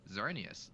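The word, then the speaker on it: Xerneas: But yeah, but yeah, like that's literally a Pokemon like a legendary Pokemon name, but it's pronounced Xerius and it's spelled X era S.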